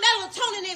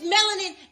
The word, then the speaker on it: melanin: a first of all it's not melatonin and whatever it is that you just said it's melanin and biochemistry you can't even pronounce